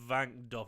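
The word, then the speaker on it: Wankdorf: It's the Vankdorf. It's pronounced with a V.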